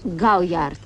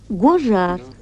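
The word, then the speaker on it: Gaujard: Гауяр. Гожар. Это только по-французски пишется гауяр, а произносится гожар.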